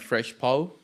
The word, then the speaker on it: Fresh Pow: sure so ultimately leading to the creation of fresh po po is that how to pronounce it yeah fresh our podcast and honestly